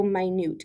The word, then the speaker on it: minute: means very specific so my newt go ahead and say that my newt not minute my newt but spelled the same he would document his